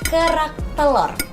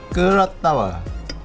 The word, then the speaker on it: kerak telur: Can you say it like kerak telur? Kerak tawa.